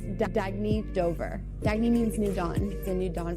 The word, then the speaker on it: Dagne: good you can live life intentionally oh it's pronounced dagne do dagy means new dawn it's a new